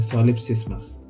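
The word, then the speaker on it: solipsismus: सो सॉलिपिज्म एक Latin word से आता है जिसका प्रॉपर प्रोनाउंसिएशन है सॉलिप्सिस्मस। सॉलिप्सिस्म का प्रॉपर मीनिंग यह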